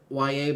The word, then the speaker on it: Yahya: Now that kind of looks like yaya.